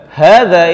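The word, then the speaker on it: هذا: Perhatikan, hada itu tidak ada alifnya, tapi dibacanya harus panjang ha-nya.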